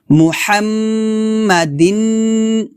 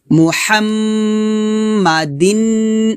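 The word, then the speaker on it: محمدٍ: আলা তারপর মুহাম্মাদিন নাবিল এখানে দেখুন মুহাম্মকে ধরছে মুহাম্মাদিন তাহলে নিচে জের আছে তো এক জের দিয়ে আমরা নুনের সাথে মিলাবো এবং গুণনা করবো এই জায়গায় বা গুণ্য হবে মুহাম্মাদিন মুহাম্মাদিন এভাবে আমার সাথে পড়েন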